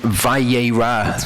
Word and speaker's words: Vayera: oh cool okay so tell portion vai a Roth that's how it's pronounced we're gonna continue to go through Genesis